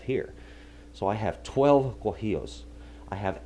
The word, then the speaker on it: guajillo: Guajillo is the way it's pronounced. The Guajillo chili, it's a red guy, like this.